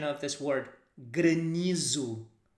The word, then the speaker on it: granizo: pronunciation of this word grenizu even though if you would really read it you would say granizo but we say good